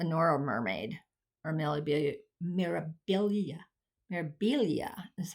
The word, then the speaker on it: Mirabilia: a nor a Nora mermaid or merab mirabilia mirabilia is how you pronounce it it's not it's not marilia it's